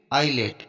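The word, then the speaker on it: islet: Island, अब यहाँ पर देखो आई और एल के बीच में एस है, तो एस यहाँ पर साइलेंट रहेगा, इसको आइलैंड पढ़ेंगे। नेक्स्ट देखते हैं। आईलेट, अब यहाँ पर भी देखो आई और एल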